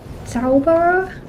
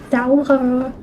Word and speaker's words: Zauberer: Zauberer? Can't say that word. Zauberer. The R, I just want to say it like an English R-E-R. The Zauberer. But that's not how you say it.